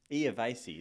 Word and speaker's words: Iervasi: And it's Iervasi, isn't it? Well done. Not many people can pronounce it, so that's a good job on your behalf.